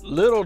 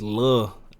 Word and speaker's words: Lil: Why is he pronouncing it like that? It's lil. You see that they don't spell it all the way.